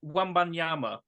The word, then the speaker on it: Wembanyama: Victor Wembanyama. Oh, it's a good pronunciation as well. H, what have you gone for, my friend? Victor Wembanyama.